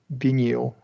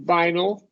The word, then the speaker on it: vinyl: a large collection of Bal records okay so yeah I'm glad we brought this up so first of all this word is be vinyl VL okay vinyl cobic L here schah